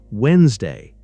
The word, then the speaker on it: Wednesday: Wednesday becomes Wednesday. The first D is silent.